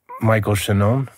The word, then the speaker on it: Michael Shannon: it yeah um I would guess no one mispronounces your name Michael shenon no who does that no that's how it's